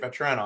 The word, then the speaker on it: Vatrano: Vatrano.